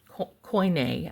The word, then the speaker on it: Koine: religious context, and the Koine Greek, that is this, there's several ways to pronounce that. I choose Koine, actually, is how I like it.